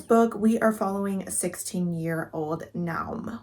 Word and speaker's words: Naum: In this book, we are following 16-year-old Naum, which is apparently how you say his name. I looked it up because I was like, I have no idea how to say this, but Naum is apparently the way you say it.